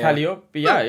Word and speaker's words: Calliope: English pronunciation, but yeah, he went Japanese and I went English. Right, yeah, because if you put it in katakana, that's what it is, isn't it? Yeah. Calliope, Calliope.